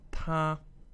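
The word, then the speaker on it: 他: So ta, the male pronoun, meaning he, first tone, ta.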